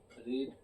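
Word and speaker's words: read: पढ़ने का इंग्लिश होता है रीड। थर्ड फॉर्म क्या होता है? रेडी होता है लेकिन इसका प्रोनाउंसिएशन क्या होता है?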